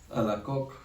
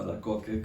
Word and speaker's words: Alacoque: Estamos hablando de Santa Margarita María Alacoque, o Alacoque, como se pronuncia en español, una monja francesa de